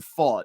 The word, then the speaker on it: Pfaadt: So, I mispronounced it on our last episode. So you went to Baseball Reference. We saw that the pronunciation was Pfaadt.